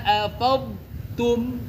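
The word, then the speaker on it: أفضتم: Kalau huruf sukun kok ditulis tanda sukunnya berarti dia dibaca jelas. Betul enggak? Ya, ini kan huruf dod. Tanda sukunnya ditulis ya. Oh, berarti dia jelas dibaca dodnya. Faidza afadtum afadtum.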